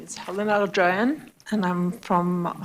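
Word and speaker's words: Aghjayan: My name is Helen Arjian and I'm from I'm sorry, can you pronounce that again? Helen Aran spelled A G H J A Y A N.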